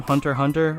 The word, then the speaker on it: Hunter x Hunter: there a hunter hunter do we say it right this time Hunter Hunter we don't say the x is there a hunter